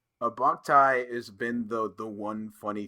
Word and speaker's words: Boktai: It's Boktai. That's how you Boktai.